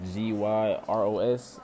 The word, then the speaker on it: gyros: I had a um It's g y r o s gyros. That's how the lady said you're supposed to pronounce it.